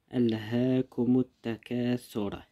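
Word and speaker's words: ألهاكم التكاثر: Alhaakumut takasur. Attention, le alif là il se prononce pas.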